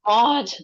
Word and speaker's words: Maud: No, Maud. That's fine. Maud, like M-O-D.